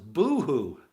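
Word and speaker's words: בֹהוּ: baked hey wow or and it's pronounced boohoo have you ever heard somebody say oh boo hoo boo hoo boohoo well guess where it comes from it means your Void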